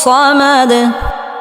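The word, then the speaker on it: صمد: কুলহু আল্লাহু আহাদ আল্লাহু সামাদ আল্লাহু সামাদ আমরা এখানে অনেকেই সদকে সিন বলি আল্লাহু সামাদ বলি এখানে উচ্চারণ হবে সমাদ সদ মোটা করে উচ্চারণ করতে হবে এবং সদ উচ্চারণের সময় বাতাস বের হবে আল্লাহু সামাদ আল্লাহু সামাদ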